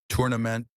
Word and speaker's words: tournament: Tournament, three syllables. Stress on the first part, tournament. Tournament. Tournament. Not tournament. Stress at the beginning.